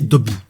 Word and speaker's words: Dobey: Dans la version française, le capitaine Dobey est prononcé Dobby, et plus Dobey comme dans le pilote.